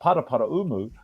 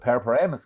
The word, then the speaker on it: Paraparaumu: never lived there but paraparaumu um we always call it para Paramus kid so I have to